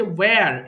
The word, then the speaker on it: where: যেন আমরা সরাসরি ভুল না বলি আরেকটা হচ্ছে ওয়্যার এখানেও হচ্ছে H এর উচ্চারণ দরকার নেই ওয়্যার কোথায় ওয়্যার ইজ ইউর